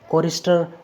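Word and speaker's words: chorister: आपको याद रखना है कि सी एच से पहले कुछ नहीं हो, सी एच के बाद में ओ वोवेल हो, ओ के बाद में आर कॉन्सोनेंट हो, आर के बाद में वोवेल हो कोई भी एक, उसके बाद में कुछ भी हो, तो ऐसी कंडीशन में सी एच का उच्चारण होगा क।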